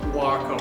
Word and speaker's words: Waco: Waco, by the way, not Waco. You've got to pronounce that one right.